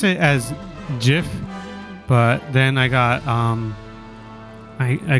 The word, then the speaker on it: GIF: And then I was in my head, I'm just like, but you would pronounce it kind of like the peanut butter, no?